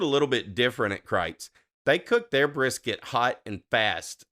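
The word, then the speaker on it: Kreuz: score of a 9.2 Crites Crites Market in Lockhart now it's spelled like krutz it's spelled k-r-e-u-z but it's German so it's pronounced Crites and uh and man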